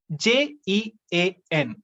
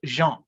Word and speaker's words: Jean: pronunciation is different we have the first name j-e-a-n it is pronounced jean jean jean then you have baudrillard baudrillard 2l